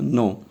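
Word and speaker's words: know: Spelling is different but sound is same. Okay, suppose no, no, K-N-O-W, no.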